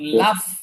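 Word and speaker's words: laugh: যে এটা খেয়াল করবেন, এটার উচ্চারণের সাথে আর বানানের সাথে কোনো মিল নেই, এই জন্য এটা খেয়াল করবেন ভালো করে। এটার বানান একরকম, উচ্চারণটা আর একরকম। লাফ, লাফ, লয় আকার ফ, লাফ, এই এরকম এটার উচ্চারণটা হবে।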